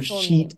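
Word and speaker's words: Scheat: Or Sheet is the other name. Sheet? Is that how you say it? Yeah. It's S-C-H. It's like S-Cheat is what it looks like.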